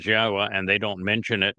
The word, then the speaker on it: Yahweh: And of course, within Christian communities, the very fact that Yahweh's name is Yahwa and they don't mention it means that Yahweh has nothing to do with their New Testament or their religion.